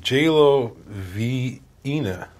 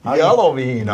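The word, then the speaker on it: Jaloviina: J-Lo Vina. What the fuck is this? J-Lo. That's what he can't. He doesn't even know English, let alone. Yellow Vina. Yellow Vina. Yellow. It's like jalapeno.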